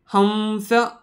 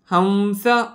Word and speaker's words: हंस: आहेत मग या ठिकाणी अनुस्वाराचा उच्चारण करताना नेहमी लक्षात ठेवायचं की व सारखा साऊंड प्रोड्यूस करायचा आहे म्हणजे हंस हंस व सारखा उच्चार येतोय परत सिंह याचा पण